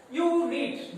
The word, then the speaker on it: unit: Unit, the same pronunciation, unit, u pronunciation a.